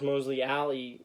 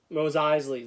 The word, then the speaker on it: Mos Eisley: tomorrow morning at midnight, the new Star Wars Mosley Alley set. Now I can't remember how to say it. The Star Wars Mos Eisley's.